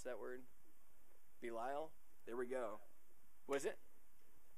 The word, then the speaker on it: Belial: how to pronounce that anybody know how to pronounce that word Belial there we go was it yeah Belial so or what portion does a Believer share